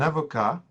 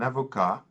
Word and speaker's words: avocat: Un avocat, if you hear me say it, un avocat, you do not hear the T at the end. And that's the general case when we have a consonant at the end of a French noun. It will be silent in the masculine, un avocat.